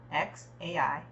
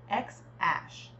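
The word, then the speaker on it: X Æ: podcast M said that the first part is pronounced X Ash with X read like The Letter however Grimes whose real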